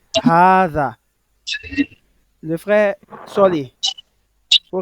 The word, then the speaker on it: هذا: L'élongation n'est pas marquée à l'écrit. mais à la prononciation, on doit le lire. طيب, il est bel et bien prononcé. Hada.